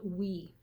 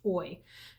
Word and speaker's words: OI: it's o i but i always forget that it's actually pronounced oy and it's oi alluring